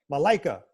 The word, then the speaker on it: Malaika: I'm going to say the name Malaika, right? Malaika. Yeah. I know that. Goodness. I know that. But you don't spell it right.